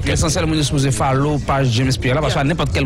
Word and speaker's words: James Pierre: Donc James Pierre, comme ça c'est écrit, comme ça se prononce.